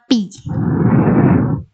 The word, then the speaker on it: pi: garis baru melengkung itu bacanya Pi bukan PH Ilya kalau PH Itu